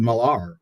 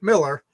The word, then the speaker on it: Millar: I always pronounce it Millar. Yeah, that's one of the things we talked about. He pronounces it Miller.